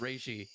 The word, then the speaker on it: Reishi: I'm like, no, it's pronounced Reishi. I know this because I watch anime that uses that term. It's Reishi.